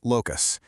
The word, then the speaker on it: locus: It's pronounced locus.